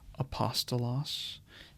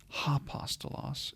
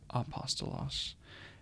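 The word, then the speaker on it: ἀπόστολος: angled this way so the smooth breathing Mark is the kind of ending comma placed over the first vowel in a word and it is not pronounced or transliterated so in this case you have apostos because of this it's not hostos it's apostos and AAS and note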